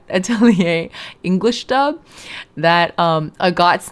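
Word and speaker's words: Agott: English dub that um a got's name was pronounced agot and it didn't you know rhyme with the slur.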